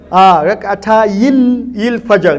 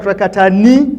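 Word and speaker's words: رَكْعَتَيِ الْفَجْرِ: So what is the correct pronunciation? Rak'atayil Fajr, not Rak'atani. You will delete the noon.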